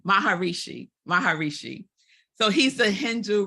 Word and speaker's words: Maharishi: Shri I always say his name ranked wrong baharishi Maharishi Maharishi so he's a Hindu religious leader who